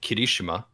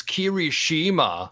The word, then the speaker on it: Kirishima: in videos for example say kitty Shima and someone in childlike bro it's Kirishima I'm like yo if